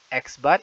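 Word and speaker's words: x̄: data kelompok di mana rumus yang digunakan yaitu X bar ingat ini dibacanya X bar X bar = Sigma Fi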